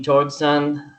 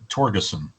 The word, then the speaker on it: Torgeson: Torgson. Is it Torgson? Is it Torgson? Torgeson. Torgeson. Okay. That is the Mr. American pronunciation.